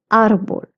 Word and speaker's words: árbol: El árbol, tree, because there's an accent on the A, so I will pronounce it as árbol.